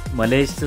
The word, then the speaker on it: Mallaig: मलेजचं spelling MALLAIG असं आहे.